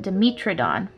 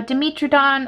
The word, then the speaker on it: Dimetrodon: paint an animal called Dimetrodon now Dmitry Don or Dimetrodon or however you'd like to pronounce it is a genus of